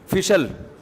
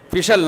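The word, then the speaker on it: special: बहुत मशहूर लग जाए बिशल बिशल बिशल फैसल है अबे सही प्रोनोंसीएशन बुलवाया करो स्पेशल न और फैसल यह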